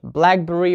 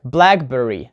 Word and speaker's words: blackberry: 2 parts, like blueberry, blackberry, blackbird, greenhouse, old-fashioned, and so on. So we have such rules as, for nouns, compounds, we put the stress on the first part, like blackberry, not blackberry, blueberry, strawberry, blackbird, we